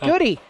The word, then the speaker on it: Goody: as well so nate goody uh hey uh nate uh your name is it good is it goody he's like oh thank you for asking it's goody that they always get